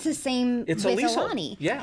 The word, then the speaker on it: Aulani: But how do you pronounce it? Aulani. Aulani. Yeah, Aulani. Aulani.